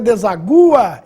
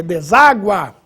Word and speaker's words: deságua: nossa regra deságua importante para você não ler desagua é deságua mágoa agudo no ar